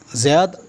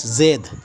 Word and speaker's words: Zayad: Zayad can also be pronounced as Zaid.